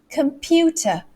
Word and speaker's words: computer: else i'm using a computer computer computer so the pew is actually the one that's stressed out of all of that syllable those syllables there all